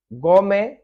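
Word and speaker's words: gourmet: गोरमे, गोमे, गोमे, तो यहाँ पे ये टी साइलेंट है।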